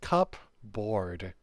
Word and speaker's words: cupboard: Yes, that is how you spell it. It's cupboard, but it's it's pronounced cupboard.